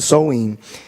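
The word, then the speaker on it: Samhain: paganismo e irlandês no festival de soin a pronunciado Sol in ela fala que conhecido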